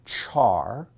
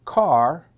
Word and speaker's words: char: Some people pronounce it char, some people pronounce it car, and some people say care.